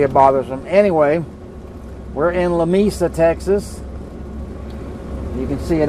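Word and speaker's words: Lamesa: want to say it La Mesa or something but in Texas it's pronounced La Mesa I can promise you and I can prove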